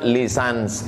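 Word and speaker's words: licence: Apa artinya lulusan Kairo LC ljenen itu membacanya lisans artinya ijazah orang ini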